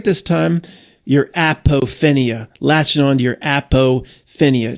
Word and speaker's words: apophenia: going to say it right this time, your apophenia. Latching on to your apophenia. Just call it alpophenia. Better than aphophenia.